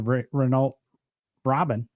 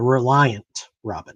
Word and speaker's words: Reliant Robin: Clarkson on Top Gear when he rolled the re Rena Robin no the Reliant Robin yeah yeah the Reliant Robin see I mispronounced Reliant I'm sorry and and you mispronounced